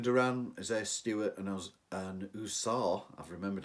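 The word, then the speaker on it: Ausar: well uh Jaylen Duran isah Stewart and and usar I've remembered how to say it huzar Thompson are providing rebounds and blocks uh Duran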